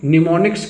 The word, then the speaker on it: mnemonics: तो इसको निमोनिक्स कहते हैं। क्या कहते हैं? निमोनिक्स। इसका स्पेलिंग कैसे लिखा जाता है?